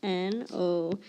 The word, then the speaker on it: nodded: N-O-D-D-E-D. When I say nodded, I hear that id sound at the end.